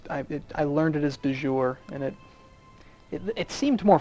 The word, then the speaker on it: de jure: I always pronounce it dour it's not right it's dour which is a it sounds Italian to me but I know it's